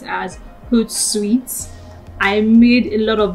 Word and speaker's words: Hootsuite: move on to uh let's move on to hot suits guys i am so sorry i have been pronouncing this wrongly it is actually pronounced as hood sweets i made a lot of this mistake throughout